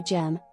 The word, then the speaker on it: GEMN: The pronunciation for gem is the same as gem for gemstones.